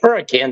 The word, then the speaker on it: Hurricane: So if you hear people say hurricane, that's what we're talking about, is Hurricane, Utah. We pronounce it hurricane.